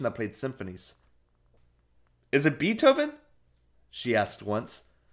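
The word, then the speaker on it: Beethoven: played symphonies is it betoken she asked once pronouncing the first part of the composer's name not bei but be like the insect she rolled down the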